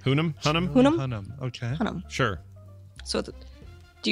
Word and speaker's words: Hunnam: And the other one being Charlie, I'm going to mispronounce his last name. Hunnam? Is that right? Hunnam? Hunnam.